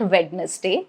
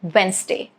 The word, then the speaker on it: Wednesday: So yes, it is not witness day. It is Wednesday.